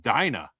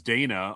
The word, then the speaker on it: Dina: Uh, except for the fact that apparently that is pronounced Dina, which I had no idea of. I always thought it was Dana, although there are others who thought it was Diana.